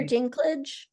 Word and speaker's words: Dinklage: the movie festival and how do you pronounce it is it link linkage Peter Dinklage Peter okay right the the